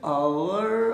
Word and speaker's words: hour: अच्छा, ये आवर और are, what is the difference between आवर एंड are? This is pronunciation, ये उच्चारण है।